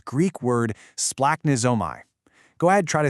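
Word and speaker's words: σπλαγχνίζομαι: To really understand it, we need to look at this fantastic, albeit totally hard to pronounce Greek word splaknizomai. Go ahead, try to say it, splunk-nitsomai.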